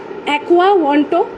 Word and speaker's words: Aquawanto: एक्वा वॉन्टो, इसका spelling AQUAWANTO, एक्वा वॉन्टो Comtrade COMTRADE, मतलब commerce